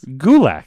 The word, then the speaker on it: Gulak: So his name is pronounced as Gulak.